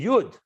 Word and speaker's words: yud: dot when you spell it out when you pronounce it you say jud you advocate so the miloi in kabbalah refers